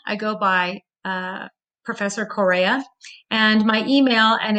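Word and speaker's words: Groh-Correa: and encouragement from them my name is grow Coria I go by Professor Correa and my email and it's spelled dot grow is gr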